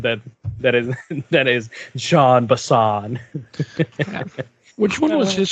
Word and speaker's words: Jean: the first one with john bison or jean bison his name is john he has a french he has a french pronunciation name and he's the most